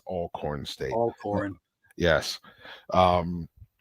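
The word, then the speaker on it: Alcorn: over all corn state if you're looking at it saying Al corn State you're pronouncing it wrong it's all corn State all corn yes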